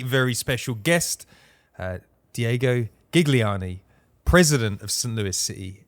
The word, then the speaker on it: Gigliani: by another very very special guest uh Diego gigliani president of St Louis city SC welcome to